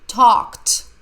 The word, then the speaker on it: talked: talk about the chandraya talked the Ed sounds like T they talked about the party they talked letter e is silent they talked about the